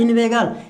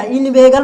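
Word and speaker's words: inveigle: अब यहाँ पे क्या लिखा है, इन्वेगल, इसको पढ़ेंगे क्या, इन्वेगल पढ़ेंगे, ये नहीं कि कुछ गलत पढ़ दे, इन्वेगली, इस तरह का नहीं पढ़ना।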